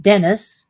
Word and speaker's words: Dennis: feel dennis cowan is a man name is pronounced dennis he's a facebook friend of mine well he's featured in last year's uh price guide so that's what i'm talking about i didn't know about these people and you saw i don't really know how to pronounce their name right so i didn't know if it was female men because it looked like denise to me so dennis forgive me